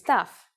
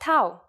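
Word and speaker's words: ταυ: Our first letter this time is Taf. It's a consonant, and its sound is T. You may have heard it called Tau, which is its usual name in English.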